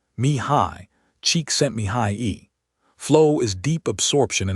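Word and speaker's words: Csikszentmihalyi: Pronounced approximately, me high, cheek sent me high e.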